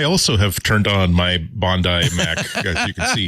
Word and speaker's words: Bondi: uh turn on my Bondi sorry Bondi it is pronounced Bondi not Bondi Bandai iMac G3 today in honor of the 25th anniversary of the iMac which is today August 15 1998.